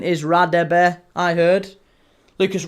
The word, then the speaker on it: Radebe: Name pronunciation is Radebe, I heard. Lucas, Radaby, however you want to pronounce it.